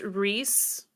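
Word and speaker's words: Rhys: up though I haven't double checked but yeah pronounced Reese Reese Reese yeah yeah so Christian we start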